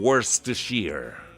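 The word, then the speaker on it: Worcestershire: sa sa kanilang mga ano mga briton ang pronunciation nila diyan gla parang worst to sheer ' ba hirap na hirap tayong mga Pilipino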